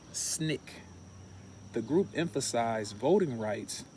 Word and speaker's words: SNCC: Student Nonviolent Coordinating Committee, or SNCC, pronounced SNCC.